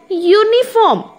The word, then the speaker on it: uniform: If I say uniform, that means it is the sound it takes, rather than using the, we are pronouncing the letter U, we say Y-O-U.